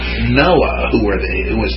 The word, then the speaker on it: Noah: Commandments we have the we pronounce the the name Noah with no terminal H even though we spell it with one but they aspirate it in the uh in in Hebrew and so forth so